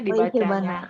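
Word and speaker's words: 生け花: Oke, ikebana desu ne Ikebana. dibacanya. Haknya kalau ditambah dengan kata sebelumnya itu jadi haknya tuh jadi huruf kotor ya. Jadi kalau kita bilang ba gitu, ikebana jadinya.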